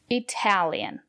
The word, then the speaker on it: Italian: to Italy good job Italian the syllable after the letter T is dressed we pronounce the letter t as T Italian I don't speak Italian